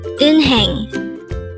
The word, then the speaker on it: 은행: hangle word number 312 in hang again it's in hang this composed of two syllables the first syllable is in second syllable is hang pronounce it with me in hang in hang what is the